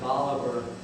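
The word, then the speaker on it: Bolivar: they pronounce it cast we all know of Simone bouar the Great South American hero uh and general but here in mson county and County they pronounce it biver and we know it's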